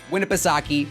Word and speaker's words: Winnipesaukee: i looked it up i looked up how to pronounce it and winnipesaki lake winnipesaukee um now